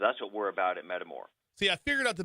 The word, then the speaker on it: Metamor: That's right, and we're called Metamore. So let me spell that, METAMOR, Metamore. Now, when you think about Metamore, think about two things. Think about metabolic and think about metamorphosis, okay?